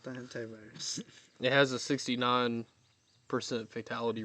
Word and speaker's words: hantavirus: Okay, so People freaking out all over the place though, especially with the hantavirus and the stuff like that. hentai virus, you gotta No, pronounce it no. right. Hantavirus.